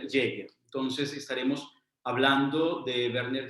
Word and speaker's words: Jaeger: ser como algún problema por algún tiempo estuve pronunciando lower dir jagger y algunos vídeos demás creo en la internet pues hay distintas maneras de llamarlo pero entonces creo que la pronunciación que más puede acercarse a la alemán originales werner hoyer entonces estaremos hablando de